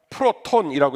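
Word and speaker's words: πρῶτον: 헬라어로 말하면 프로톤이라고 읽을 수 있는데요.이 프로톤이라는 단어의 용례가 두 가지입니다.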